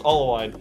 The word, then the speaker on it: Allwine: you want to add the last name it's pronounced all wine Nick allwine thank you